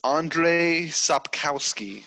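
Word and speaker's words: Andrzej Sapkowski: read those by is andre sopkowski i believe is uh how you pronounce it that's how the audiobook pronounces it so i'm going to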